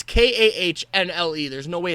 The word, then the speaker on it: Kahnle: Kaline. No way. Yep. Kaline? Yep. No. It's Kahnle.